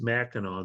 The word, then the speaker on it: Mackinac: Even though it's spelled with a C at the end, it's always pronounced Mackinac.